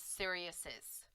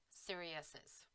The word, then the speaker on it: Sirius's: another s after it either way the pronunciation is seriouses so by adding an s a possessive to a name that already ends with an s we add an extra sound sirius siriuses but remember there are